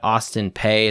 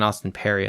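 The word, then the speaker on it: Austin Peay: UAB and Alabama's got Austin pay it's not even Austin Perry it's Austin pay maybe I'm mispronouncing that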